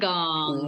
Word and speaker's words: Wollongong: Is it Wollongong? Is that how you say it? Wollongong.